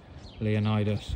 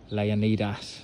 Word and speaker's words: Leonidas: the front of it Leonidas or Leonidas depending on your pronunciation bloke it's the manliest